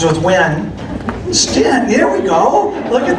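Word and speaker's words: Styn: name like 15 times because it's spelled S-T-Y-N. So yeah. So it rhymes with win. So S-T-Y-N, rhymes with win. Stint, there we go.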